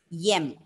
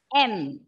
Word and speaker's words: M: Okay, it is M, it is N, O, it is S, not Yes.